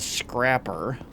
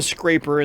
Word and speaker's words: Scrapper: right over there okay so that's the Scrapper I called him the scraper in the last episode because it's spelled scraper and plus I just thought it sounded better than calling it a scrapper all right so let's